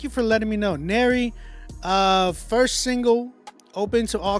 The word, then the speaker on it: Nero: It's pronounced like Mary with the N. Thank you for letting me know. Nero, first single, open to all constructive criticism.